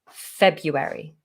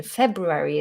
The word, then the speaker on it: February: but no one's going to misunderstand you saying february which is not the correct pronunciation february is the correct pronunciation but if you said february no one's going to think you're meaning another